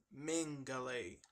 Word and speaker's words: Mengele: Joseph Mengele, that's how you pronounce it.